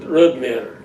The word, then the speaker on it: Rodmyre: And if you were Norwegian, you'd pronounce it Rodmyre.